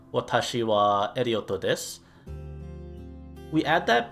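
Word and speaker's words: は: the hiragana for wo, similar to how the hiragana for ha is read and pronounced as wa, when we're talking about doing an action, wo is pronounced as o.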